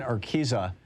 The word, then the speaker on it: Urquiza: on the line with us is uh kristen arkisa uh kristen am i pronouncing your name correctly yeah you have it